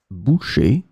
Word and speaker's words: boucher: In this lesson, we will see together two words that are written differently but pronounced the same way. Boucher, boucher.